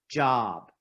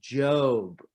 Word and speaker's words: Job: on that list is not job it's pronounced job in the bible psalms that's the